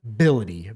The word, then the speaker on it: Bility: Last name, Bility. B-I-L-I-T-Y. Wow. Mobility. Mr. Mobility. So the H is silent.